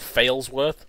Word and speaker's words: Failsworth: There's a place, I think it's in the Midlands, called Failsworth, and it's spelt like how he'd spell fail.